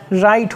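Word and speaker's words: write: है तो dear viewer जब भी डब्लू के पश्चात आर आ जाए तो उस कंडीशन में डब्लू साइलेंट रहता है या डब्लू के पश्चात जब भी एच आ जाए तो उस कंडीशन में भी डब्लू साइलेंट रहता है जैसे कि डब्लू आर आई टी ई तो क्या हो जाएगा राइट हो जाएगा क्या हो जाएगा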